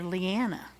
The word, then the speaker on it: Liana: That's the third pronunciation for Liana. Liana. I've been calling her Liana. Yep. And she called her Leona. Yep. But in the show, they called her Leanna.